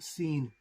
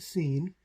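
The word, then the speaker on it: שׂ: And Sheen, if the Dagesh is on the right, is pronounced Sheen. If the Dagesh is on the left, is pronounced Seen.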